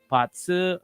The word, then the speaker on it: Bazi: How do you read these readings, and what exactly are the differences between Patsu, which is spelled Bazi, by the way, if anyone